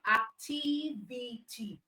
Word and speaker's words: activity: last cable okay so for activity how many syllables do we have we have activity that means we have four syllables all right we have four syllables so that means that our syllable for activity is on t t Okay activity all right